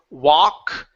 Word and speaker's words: walk: go good job ok same thing with walk and talk we don't say tau tau it's not ow it's tah talk ok yeah so don't let those elves fool you ok we don't pronounce those L sounds in in these words came this word here